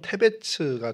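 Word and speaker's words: תבץ: 히브리어로 데베스는 뭐 발음을 히브리어상으로 하면 테베츠가 되는데 그 뜻이 창백함, 뭐 하얀, 뭐 이런 의미를 갖고 있고요.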